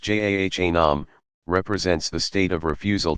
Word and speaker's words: Jahannam: Jahannam, pronounced Jahannam, represents the state of refusal to acknowledge God's sovereignty.